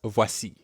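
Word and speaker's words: voici: it is in french that's voisi we have the same wa sound as in toilet or voyage now it's your turn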